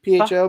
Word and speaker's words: pho: Like it's spelled pho, PHO, but it's pho.